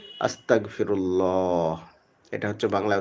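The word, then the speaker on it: أستغفر الله: আস্তাগফিরুল্লাহ। এটা হচ্ছে বাংলায় উচ্চারণ বলে দিলাম।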